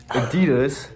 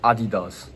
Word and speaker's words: Adidas: there's another thing n Adidas is German and it's called Adidas not Adidas Nike okay what we